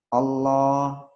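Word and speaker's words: الله: Allah, huwallah, ayatullah, rasulullah, innallah, barakallah, radiyallah, nasrullah. Jadi seperti itu. Jadi dibaca panjang, 2 harokat.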